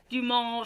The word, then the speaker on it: Dumas: It's pronounced Dumas, but okay.